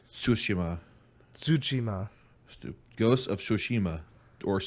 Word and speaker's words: Tsushima: tunishima to yeah like just put put the t and s like flow into each other like tsushima tsuchima ghost of sushima